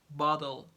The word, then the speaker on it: bottle: Or if between, for example, T sounds between a vowel and L or R. Let me give an example. For example, there is a vowel here and there is L here. It's gonna be pronounced bottle, bottle, bottle, bottle of water, bottle of.